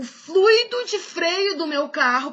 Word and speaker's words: fluido: Fluido ou fluido? Fluido. Na verdade, são coisas diferentes, né? Eu posso dizer assim, a aula tem fluído bem. E eu digo assim, o fluido de freio do meu carro precisa ser trocado.